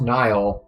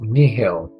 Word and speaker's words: Nihil: pronounced nihilism and yet without the ism it's not pronounced nile it's pronounced nihil I think I'll actually